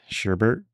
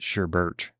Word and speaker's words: sherbet: Sherbet, however you pronounce it. Was always, as a kid, I always pronounced it Sherbet, but there's no R.